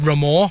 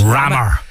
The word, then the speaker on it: Ramor: I was calling it the football club Ramor, but it's not Ramor, it's Rammer.